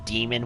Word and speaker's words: daemon: that they decided to pronounce demon with the A in front of the E, like in the old days, like way old days, compared to these days where it's, it's just demon with just the one E.